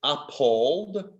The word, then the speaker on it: appalled: this one mean appalled it sounds like your name paul but it's appalled let's just spell that